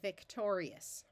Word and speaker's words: victorious: that a little faster Victorious this suffix is pronounced just it's one syllable we don't divide between